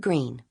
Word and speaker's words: Greene: My name is Green. That's green with a silent e at the end.